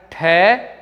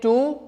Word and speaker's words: too: क्योंकि अंग्रेजी में ऐसा कोई भी शब्द नहीं होता है जिसका उच्चारण घ, जिसका उच्चारण ख, जिसका उच्चारण ठ होता हो।